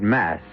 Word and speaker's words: masque: the mask of the Red Death the word mask you should know is spelled m s QE and means masquerade and